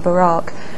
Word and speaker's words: Barack: Barack Obama Barack Obama we know that he himself pronounces his first name Barack and so that's what we recommend and if you thought